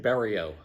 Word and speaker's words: Bariou: how do you pronounce your last name? Bariou. Bariou. I've had other people that had similar last name that pronounces it different. Yes. And so we can thank some Italian neighborhoods in New Jersey for the current pronunciation.